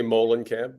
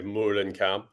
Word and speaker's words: Moehlenkamp: how do you say your name I say Molen camp but I have heard many people say Moon and camp or Moulin Camp um I think either way it's as confusing